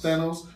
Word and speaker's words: Thanos: guess this is how you say his name Thanos Thanos and he's gonna be the new guy I